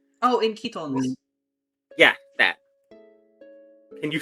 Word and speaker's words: chiton: Oh, in Ketons. Yeah, that. Can you spell that for me?